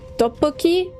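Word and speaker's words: 떡볶이: Tteokbokki? Tteokbokki, I think it's pronounced.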